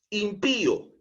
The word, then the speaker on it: impío: generando dos sílabas diferentes por ejemplo impío esta palabra lleva tilde en la i porque es una palabra aguda Pío impío eh lleva la mayor entonación de voz en la última sílaba Pío pero como le colocamos